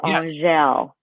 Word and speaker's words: Angelle: Angelle, it's the A-N is pronounced like O-N, but you don't even finish the N. It's ah. And then the last part is gel, like Jacques Cousteau, but it's Angelle.